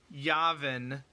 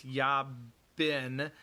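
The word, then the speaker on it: Jabin: uh yavin is not yavin like in star wars it's yab bin and the the first letter is actually a j i'm pronouncing it like a y i'm pronouncing it like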